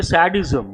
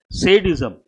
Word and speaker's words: sadism: People mispronounce. I have just used one word. What do people say? Sadism. Not correct. Sadism.